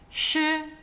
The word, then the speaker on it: ㄕ: Next we have sh which is like when you say mushroom and get rid of the m and the so m shroom sh the pinging is sh